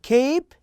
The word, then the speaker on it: cape: also cap and tap but what if there is an e at the end the sound will be different so here you say cape and you say tape Okay let's listen to